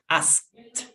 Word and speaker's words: asked: We add the T. In past tense, is not asked, is asked. Repeat, asked. Asked.